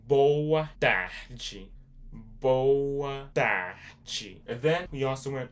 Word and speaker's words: boa tarde: Boach bachi.